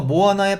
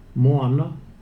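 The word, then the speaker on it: moana: 이름인데요 폐 모아 낳아 토의 라는 이름이에요 여기서 뭐 하나에 발음을 한번 제대로 된걸 들어보시죠 뭐 하나 뭐 하나 이겁니다 그 앞에 테 모아 나가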